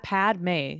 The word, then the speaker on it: Padmé: Yeah, it's Padme. It's Padme. Oh, It's just Padme. There's it's no not third syllable.